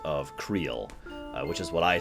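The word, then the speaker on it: Krile: three major pronunciations of creel which is what I say I've heard kry and Kay and I guess cray those are the four excuse me major pronunciations I have heard of her name k r i l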